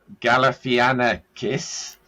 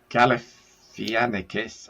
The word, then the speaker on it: Galifianakis: In terms of the other stars, there's Zach, complex names here, Zach Galifianakis. Galifianakis. I've never been able to pronounce his name.